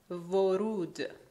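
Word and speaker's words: وُرود: As you can see, vav appears here twice, but in the first case is the equivalent of v. And in the second case is the equivalent of U. The sound is U.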